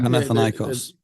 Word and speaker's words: Panathinaikos: Panathinaikos. Is how you pronounce it.